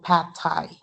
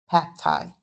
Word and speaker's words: pad thai: So pad thai, pad thai. Okay, so pad thai, it's unreleased.